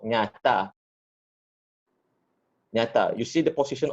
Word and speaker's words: ny: It's pronounced nya. Yeah. Nya, yes. Nya as in how does it? Nya as in nyata. It's like you have if you know the Spanish language, you've got the El Niño, La Niña, the Niña sound.